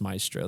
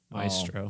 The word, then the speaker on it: maestro: let's see my m I think it is just Maestro though I think you're right I just have a habit of of doing the three syllables this is thrilling yeah